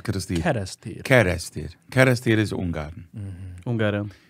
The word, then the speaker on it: Kerestir: how do you pronounce Kristir? Kerestir.